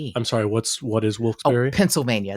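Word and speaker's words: Wilkes-Barre: a r r e it's wils berry wils berry I would have thought wils baret bar wilberry okay wils Berry b a r r e I'm sorry what's what is wils berry Pennsylvania it's a city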